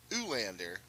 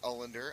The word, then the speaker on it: Ulander: it in right field is Zoolander not Zoolander ulander maybe it's pronounced olinder I don't know but it is spelled u-l-a-n-d-e-r so I'm gonna say ulander and he makes the